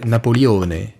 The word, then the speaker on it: Napoleone: reflète ma personnalité napoléon c'est mon prénom maman prononcer napoleone avec l'accent du pays c'est devenu une embrouille